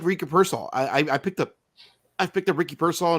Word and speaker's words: Pearsall: And so if Ricky Pearsall, am I pronouncing his name right? Is it Pearsall?